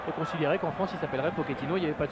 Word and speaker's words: Pochettino: Alors Cyril, on dit Pochettino ou Pochettino? Alors on dit Pochettino, pour moi c'est sûr, parce qu'il est argentin, donc argentin c'est de l'espagnol, et en espagnol le CHE se dit Che.